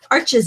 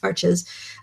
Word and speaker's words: Arches: working on 100% cotton paper like this um arches is and by the way it's actually pronounced Arch but um the American we pretty much all of us in America pretty much pronounce it arches um well that's how it's spelled well yeah